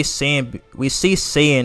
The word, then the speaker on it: Saiyan: So yeah, I always pronounce it as Saiyan because I've already gotten too used to it after like 2 decades at this point.